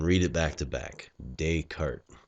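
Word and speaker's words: Descartes: to us um now the proper way to pronounce this philosopher's name is Renee dayart so uh the tendency is to say discart or something funny like that uh but just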